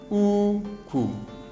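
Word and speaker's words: úkwù: The first example there is high, low. So we expect this sound. So here the word should be uku.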